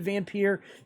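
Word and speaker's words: Vampyr: creators of the game the creators of the game call it vampire okay even though it's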